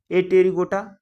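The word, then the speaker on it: Apterygota: सब क्लास कौन सा ए टेरी गोटा और टेरी गोटा मतलब देखो यहां पे ए साइलेंट है प साइलेंट होता है ध्यान रखना ठीक है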